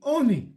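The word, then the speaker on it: עני: Oni ketiv. Notice, it's pronounced oni with a cholem, like a vav in it, right?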